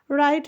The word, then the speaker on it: right: राइट नाउ, RIGHT। देखिए GH यहाँ पे साइलेंट है, GH को हम साइलेंट कर देंगे यहाँ पे।